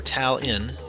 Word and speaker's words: Talon: Talon writes, or Tal-in, as he wanted me to pronounce it, I am a great big Star Fox fan, and I'm wondering if you can answer a question.